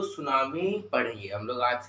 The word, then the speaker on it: tsunami: यहां पे होता है जो टी होता है वो साइलेंस होता है तो कोईकोई ऐसे पढ़ते हैं टी सुनामी टी सुनामी ऐसे पर नहीं इसका एप्रोप्रियट एक्स प्रोनाउंसिएशन है सुनामी सुनामी सुनामी का मतलब क्या